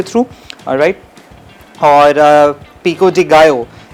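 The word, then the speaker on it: pico de gallo: और पिको डिगो इट्स नॉट पिको डिगलो। ये एक प्रोनाउंसिएशन जो है ना मेक्सिकन ये सालसा इसको बोला जाता है।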